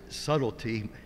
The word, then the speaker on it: subtlety: i just read subtlety if you really try to pronounce it the way it's written in our king james bible you'd probably be saying a word that you're not used to saying but actually we pronounce it subtlety and if you look